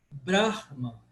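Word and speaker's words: Brahmā: Ele é paroxítono, só que eu tenho que alongar um pouquinho esse A do final para diferenciar, por exemplo, de um A fechado. O Brahman. Brahman é uma coisa. Brahma é outra coisa. Mas aqui, o primeiro A do Bra, ele é breve e ele é seguido de duas consoantes.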